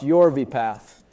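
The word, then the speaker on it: Yorvipath: drug exclusivity in the US for yv paath pronounced yv paath with the generic name palop pegar Riptide for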